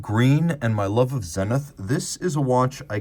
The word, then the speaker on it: Zenith: years people have wondered is it Zenith Zenith or is there another pronunciation and in this instance there's actually another if you were in Switzerland it would be something a lot more like sanit whereas in the United